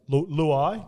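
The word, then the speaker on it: Luai: lao get on uh luau get on i always i was calling him lao 2 before and then i seen him talking about how he pronounced his name it's and it's like louis it's like klug starts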